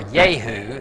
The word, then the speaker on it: Jehu: the word of jehovah came to Jehu or yahoo is how that's actually pronounced which sounds funny in our language son